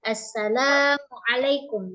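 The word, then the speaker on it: السلام عليكم: asalamualaikumaikum di rumah ya Nah tapi di dalam bahasa Arab mereka punya lahjah sendiri gitu ya maka cara bacanya Asalamualaikum mana yang panjang dipanjangkan mana yang pendek dipendek jadi ada nadanya ya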